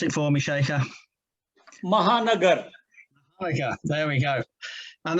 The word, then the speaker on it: Mahanagar: Pronounce it for me, Shekhar. Mahanagar.